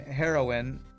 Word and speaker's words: heroine: Hero and heroine. Heroin is how you pronounce both the drug and a female hero, right?